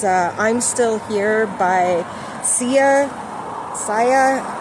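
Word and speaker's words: Sia: And it's very it's understandable um especially during these times because it triggers memories and things that you've lost and that can be extremely hard for many people.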